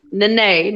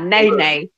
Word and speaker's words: Nene: What I'm saying is it's pronounced Nene, not Nay.